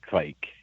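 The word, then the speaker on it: Kveik: to say yeah I I think it's like a a soft v so if you kind of combine a w and a v I think that's the and then otherwise rhyme with bike so like Quake oh Quake okay I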